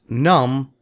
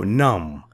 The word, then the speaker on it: numb: meanings crawled unharmed bruised numb numb B is Silent not num no numb and entire whole means